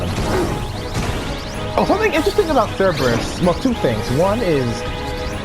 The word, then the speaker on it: Cerberus: Oh, something interesting about Cerberus. Well, two things. One is his name might actually pronounce with a K. So it's Kerberos. At least like in the actual myth, I think.